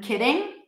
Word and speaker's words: kidding: Well, the difference is the voice. A kitten, I won't use my voice. Kitten, kitten. And for I'm kidding, I also wouldn't say that. I'm probably going to say I'm kidding, like a flap D.